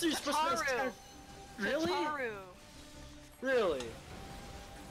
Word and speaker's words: Tataru: I will try to bring them home, Tataru. Gosh, the King Slime Crown. You and your pronunciations drive me nuts. What? How are you else are you supposed to... Really? Tataru.